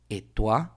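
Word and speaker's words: et toi: mismo cuando yo vea el diptongo OI en el idioma francés, en muchas de las palabras, sí va a pasar lo mismo. Cada vez vas a pronunciar, cada vez que veas ese diptongo, lo leas, lo veas en una palabra, se pronuncia gua.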